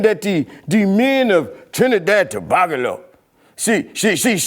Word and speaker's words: Tobago: Well, first of all, I would like to say that if you're going to say it, I would like for you to pronounce it correctly. It's Trinidad Tobago.